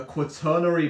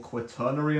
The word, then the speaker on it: quaternary: comprised of he groups it's a quary protein I've been pronouncing that wrong this whole time it's called quaternary I'm pretty sure uh